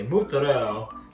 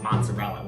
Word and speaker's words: mozzarella: We're not Italian, we're very Jewish, but she would always say mozzarella. Like, Mom, it's mozzarella. Why are you calling it that? So we're gonna break up our mozzarella into a few pieces, get the whole thing really covered.